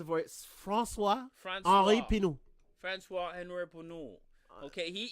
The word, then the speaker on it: François Henri Pinault: Oh, I will pronounce it for you. François Henri Pinault.